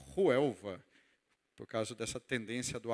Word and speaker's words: Huelva: cidade onde nós estamos, que se chama Huelva, com H, Huelva. Algumas pessoas pronunciam Huelva, por causa dessa tendência do H aspirado, mas ela se chama Huelva.